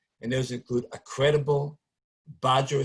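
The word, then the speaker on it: Badgr: And those include a credible Badger, spelled with the B-A-D-G-R.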